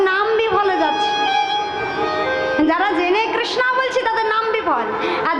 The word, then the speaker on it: কৃষ্ণ: উচ্চারণও করতে পারে না হরে কৃষ্ণ তারা কি বলে হরে কৃষ্ণা হরে কৃষ্ণা কৃষ্ণা কিন্তু কার নাম বলুন তো দ্রৌপদীর আরেক নাম কৃষ্ণা হ্যাঁ ভগবান ভালোবেসে তাকে কৃষ্ণা বলতেন সখী কৃষ্ণ কৃষ্ণা দুজন আলাদা কিন্তু তারা উচ্চারণ পারে না সেটা তাদের অক্ষমতা তাদের দোষ হবে না কিন্তু যারা জেনেও মানে আমরা বাঙালি যারা উচ্চারণ করতে পারি কৃষ্ণ তারাও কৃষ্ণা বলছি তাদের কিন্তু নাম বিফলে